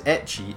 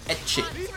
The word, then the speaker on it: ecchi: H, they call it ecchi. Oh, okay. And yeah, Remus is doing the same thing again. I don't watch ecchi harem. Ecchi is the Japanese pronunciation of H from hentai, which means pervert.